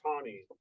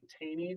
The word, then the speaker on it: Taney: Roger Taney. It looks like Taney, but it's actually pronounced Taney.